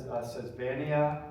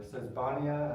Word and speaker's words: Sesbania: a lot more are this sesbania or sesbania I've heard it pronounced both ways um which is in